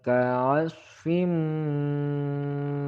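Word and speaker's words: كعصف: Faja'alahum ka'asfim ma'kul. Faja'alahum. Mim sukun bertemu dengan kaf, maka hukum bacanya adalah idhar syafawi. Ka'asfim, hati-hati shod keliru dengan huruf sin.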